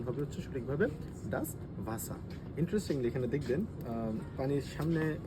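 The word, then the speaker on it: das Wasser: মানে হচ্ছে রাইস পানি এবং এটাকে আমরা বলি ডাস ভাসা যেহেতু এটা ডবলিউ ডবলিউ আমরা জারমানে এর মত উচ্চারণ করি তো সেক্ষেত্রে উচ্চারণ হবে হচ্ছে সঠিকভাবে ডাস ভাসা ইন্টারেস্টিং এখানে দেখবেন পানির সামনে একটা স্ট্রবেরি আমরা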